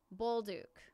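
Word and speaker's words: Bolduc: aves Samuel Bol oh somebody told me how to say this earlier and not was it youla buluk buluk Samuel buluk New York island ERS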